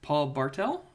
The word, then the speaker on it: Paul Bartel: I also thought this is the most random reference ever, but I thought that Paul Bartel, is that how you pronounce Yes.